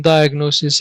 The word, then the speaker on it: diagnosis: this patient so this is the difference between diagnosis and prognosis let's see the definition now sorry not the definition the pronunciation diagnosis diagnosis diagnosis prognosis prognosis prognosis now